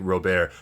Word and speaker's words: Robert: So like, you know, even even using the stage name like Rober, that is actually my name. I spell it differently. My name is Robert, but I I'm French, so I pronounce it that way.